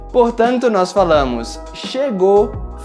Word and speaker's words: chegou: Nesse caso, na maioria das vezes, nós simplesmente não pronunciamos o som da letra U. Portanto, nós falamos chegou, falou e tentou.